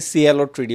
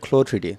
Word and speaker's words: CLO3D: আর কি আর অনেকে সিএলও থ্রিডি বলে একচুয়ালি এটাকে সিএলও টিডি বলবেন না এটাকে বলা ক্লোডি সো উচ্চারণটা ঠিক করবেন কারণ ক্লোটসের উচ্চারণ থেকে ক্লোটা আসে ঠিক আছে সো নট